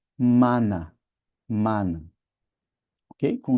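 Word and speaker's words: μάννα: Veja que mana quer dizer maná, mas para nós o acento tá na última, não é? Ela é oxítona. Maná. Para eles, o acento tá na penúltima sílaba, então eles não falam maná, mas mana.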